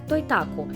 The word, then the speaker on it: Totaku: для выпускаемых ими фигурок произносится как той так у имея в японское происхождение